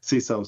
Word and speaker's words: CISO: CISO sounds like the best one.